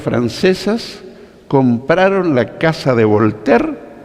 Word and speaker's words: Voltaire: abogado francés se escribe bolt aire pero se pronuncia a voltaire bueno es un personaje contradictorio si se quiere